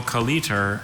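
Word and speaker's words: colleter: Which would clear up whether there any there's alternate one consonant or pronunciations? two. Oh, Just the one. Just one Kaliter.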